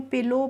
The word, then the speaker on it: pillow: ऐसे ही PILLOW होता है, तो उसको हम पिलो पढ़ते हैं, उसमें भी हम ओ के बाद जब भी किसी वर्ड में W लास्ट में आता है तो वहाँ पे हम W का प्रोनाउंसिएशन नहीं करते, यानी कि वो W होता है साइलेंट।